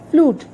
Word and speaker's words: flute: F-L-U-T-E, flute. Now see, here we have two vowels again. So the second one is silent and U is taking its name. So it is read as flute.